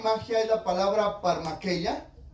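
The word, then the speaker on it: φαρμακεία: magia es la palabra parma queya parma queya así como se pronuncia con h en medio y esta palabra brujería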